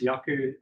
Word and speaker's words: Yaku: So my name is Yaku. Um it's pronounced with a Y.